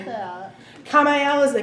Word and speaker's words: Kamael: The archangel that is associated with Geburah is Kamael. Go to Trey. How do you spell that? Kamael is a K.